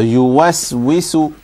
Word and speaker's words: يوسوس: So yuwaswisu. يوسوس. Good. So about the wa as well, you understand from this next example that the wa is also to be pronounced with an empty mouth.